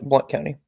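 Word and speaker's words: Blount: Tennessee or Blunt County it's BL it's pronounced blunt right shev yeah Blunt County listen I'm from South Carolina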